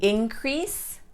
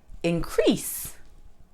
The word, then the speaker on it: increase: Nouns, person, place, or thing always stress the first sound. Verbs, actions, always stress the second sound.